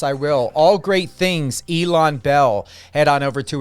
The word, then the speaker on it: Ilan: I kept saying Elon, but it's Ilan. You honestly, everybody pronounces it differently, and you got both of the main pronunciations.